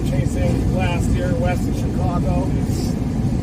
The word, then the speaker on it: Chicago: last year west of Chicago how you're supposed to say it right Chicago that's how they say it that's how my mom says it Chicago some people say Chicago my grandpa was born